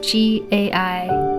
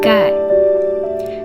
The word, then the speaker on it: gai: So the combination of G, A, I is ge, I, gai, ge, I, gai, ge, ao, gao, ge, wa, gua.